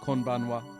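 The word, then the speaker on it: こんばんは: going to interview him report on this ban konbanwa good evening head of household Shu uh so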